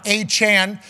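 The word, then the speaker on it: Achane: happening around the NFL let's talk about it achan which we learned that is a pronunciation of his name a couple weeks ago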